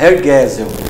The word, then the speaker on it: Hergesel: seria Hergesel.